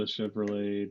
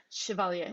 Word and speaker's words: Chevalier: mean yeah some of the some of the chevrolet distinct george or every say his name oh chevalier most of that hasn't even really chevalier okay